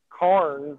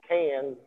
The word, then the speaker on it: Cairns: Jay, real deal from there, and I always pronounce it Carnes, but Cairns. he says Cans.